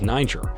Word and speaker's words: Niger: Niger as was first erroneously believed the standard pronunciation in English is Niger while in some anglophone media n is also